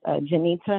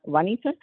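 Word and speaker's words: Junita: It's pronounced Janita, not Juanita.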